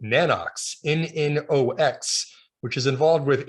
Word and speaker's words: Nanox: So I never pronounce things correctly, as Dana knows, but I always thought it was Nano X imaging, because I think there's I've always said that, and now I've self-corrected myself.